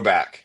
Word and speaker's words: Chrobak: That's why I put the production the the pronunciation in there. Crowback.